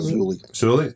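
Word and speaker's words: Moses Suli: Well, Moses Sulali, that's how you pronounce it? Sulali, so same thing.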